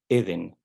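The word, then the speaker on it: עדן: en español decimos Edén en el hebreo se dice De igual manera se acentúa en la penúltima sílaba Eden pero esta palabra es una palabra que no es hebrea es una palabra sumeria Edén ellos acentuaban al final Como lo hacemos en español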